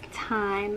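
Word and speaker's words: thyme: time nope it's pronounced time of th why yeah but you don't pronounce the th and time time as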